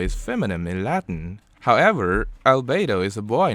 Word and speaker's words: albedo: Albedo, pronounced as albedo in Latin, means white color, whiteness, or progression of being white.